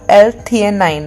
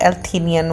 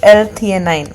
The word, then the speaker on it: L-theanine: It's called L-theanine, not L-theanine, whatever the fuck I was saying. It's L-theanine, okay?